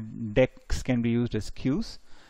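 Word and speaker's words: deque: which is called a deck it's pronounced as deck it's in the collections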